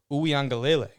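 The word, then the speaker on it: Uiagalelei: one who filled in dj ooyangale i believe i pronounced that correctly this time i put out phonetically for here for me to say that right there i i wanted to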